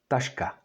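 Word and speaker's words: taška: is on fire that's a human or person tashka tashka and that's a bag and that is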